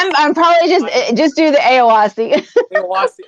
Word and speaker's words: Éoaccí: Eoacci. Eoacci.